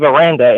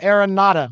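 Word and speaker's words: Aranda: marks about uh dave miranda and that he would be a good fit just about anywhere aaron yeah i pronounced his name wrong too dave aaron nada i'm working on that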